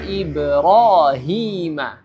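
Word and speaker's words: Ibrāhīma: dari mad thi'i ini jadi cara membaca Mad thi'i ini adalah dipanjangkan dua harakat ya dipanjang dua harakat Cukup dua harakat tidak boleh kurang tidak boleh lebih Ya jadi Cukup dua harakat contohnya waidibtala ibrahima ibrahima ya Jadi dua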